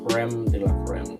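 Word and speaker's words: crème de la crème: For those of you who do not know, my channel name is actually pronounced Creme de la Creme.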